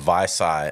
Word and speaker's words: Vici: Who the hell has a business in Vici, Oklahoma, Vici, though? Oklahoma. Vicky? Is that what? Vicky.